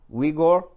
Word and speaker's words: Uyghur: Now the Uyghur, that's how you pronounce it, Uyghur.